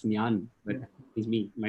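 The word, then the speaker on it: ഞാൻ: And I went to Vishak Abraham, who's Siddharth's classmate here, and said, "Have you watched Enjan Prakashan?" He's like, "No, that's Nyan.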